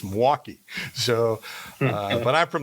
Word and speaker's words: Milwaukee: hear it from Milwaukee so it's actually a two- syllable word right so people don't get that